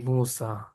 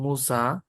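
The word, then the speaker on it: موسى: দেখো ঈসা এবং মুসা এই দুইটার মধ্যে কিন্তু আলিফ উচ্চারণ হচ্ছে। ইসি বলি, ইসি মুসি বলি আমরা, নাকি ঈসা মুসা বলি? আলিফ বলছি না, ঈসা মুসা, আলিফ উচ্চারণ হচ্ছে না।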